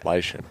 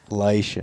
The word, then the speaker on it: Lishen: Everybody says it like it's fishing. It's like they just change the L out for an. It's like they change an F out for an L, and that's how they do it.